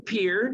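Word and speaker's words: Pierre: is Pier that's right we have to learn how to say it pier and we're going to stay in peer see the capitol South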